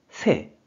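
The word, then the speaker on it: 瀬: 한자는 여울레라는 한자가 됩니다 이 한자는 뜻으로는 새 새라고 짧게 읽어주고 한편 음으로는 라이 라이라고 읽기는 하는데 음독으로는 쓰이는 경우가 상당히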